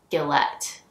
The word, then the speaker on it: Gillett: TT so maybe it's Gillette I think it would be Gile if it was only one tea but anyways this is gorgeous